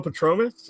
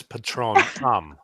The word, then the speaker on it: patronum: Expectro Patronus? I mean, that's another one. But all right. No, and you fucked up the It's pronunciation. expecto patronum. It's the Patronus charm, but it's patronum.